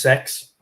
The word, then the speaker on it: CeX: We've still got one pre-owned store, and that's CEX, but it's pronounced sex.